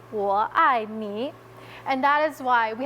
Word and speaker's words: 我爱你: you in Chinese is 我爱你. So when you say 520, it sounds incredibly similar to I love you. 520, 我爱你.